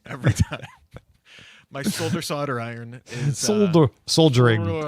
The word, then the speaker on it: solder: melty metal onto it that is pronounced in a difficult way. It's just solder. Solder. Yeah. But it's spelled solder. It's spelled solder. Yeah, but you just say it. Solder.